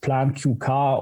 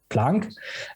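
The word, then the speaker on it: PlanQK: stands for and first and foremost it's not pronounced plant q car or plant qk or some other version it's planck as a reverence to of course the physicist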